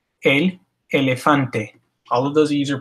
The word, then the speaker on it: elefante: has multiple E's, and each of those E's is pronounced exactly the same.